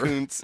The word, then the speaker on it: Kuntz: say it the right way, Dan. You know how that's pronounced. Kuntz, I guess, would be proper. Kuntz is the correct pronunciation.